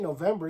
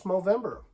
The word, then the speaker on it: Movember: No, I'm saying it right. It ain't November, it's Movember.